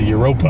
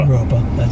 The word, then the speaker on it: Europa: behind it called uh it's spelled europe hotel but the old timers told me they called it the europa europa hotel and then that depot